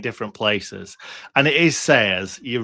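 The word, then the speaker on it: Sellés: places and it is sayers. You're right. But the amount of people that will call him sellers I just if you know it's double L in Spanish how it's pronounced like it's it's not Malora is it?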